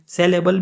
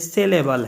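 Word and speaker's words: syllable: यानी इसको बाद लोग सेलेबल भी कहते हैं, असल में ये सेलेबल है, सेलेबल। अब सिलेबल की जो स्पेलिंग है वो आप लोग स्क्रीन पे देख रहे हैं और उसकी प्रोनाउंसिएशन वहाँ पे मैं सिलेबल करूँगा, ताकि आप लोग के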